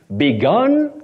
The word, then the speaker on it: begun: then the P participle you now say gun the U takes the sound o what we call the M Central sound o began past tense begun that is now past